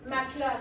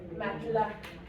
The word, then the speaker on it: matelas: Matelas. Matelas. Je prononce pas le E ici. Matelas.